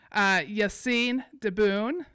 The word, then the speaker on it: Yassine Diboun: Yassine Diboun. And did I pronounce that correctly?